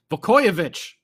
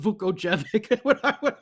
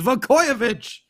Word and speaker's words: Vukojevic: Oh boy, let me try it one more time. Vukojevic, right? Instead of Vukojevic. That's what I always say, Michael Vukojevic. It's Vukojevic. As my brain just gets